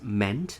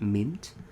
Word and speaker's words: meant: Okay, this one should be pronounced as meant, not mint.